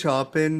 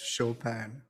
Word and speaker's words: Chopin: In Muga, and some also apparently situations, Chopin that you've been saying is pronounced Chopin.